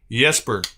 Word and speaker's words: Jesper: Yesper. Okay. Yesper. Thank you, drummer. I'm I'm still going to call him Jesper, I'm sure. like jester, you know, because that's how any American would pronounce it if they just read it for the first time.